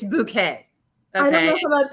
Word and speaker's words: Bucket: Her last name is spelled Bucket, bucket, but it's Bouquet.